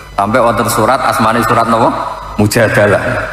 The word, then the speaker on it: Al-Mujadalah: *Al-Mujadalah*, sebagian orang membacanya *Al-Mujadilah*, perempuan yang menantang suaminya dan melaporkannya kepada Nabi, menjadi sebuah ayat: Allah telah mendengar perkataannya.